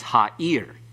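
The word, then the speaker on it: הָעִיר: It's ha'ir. The accent's on the last syllable.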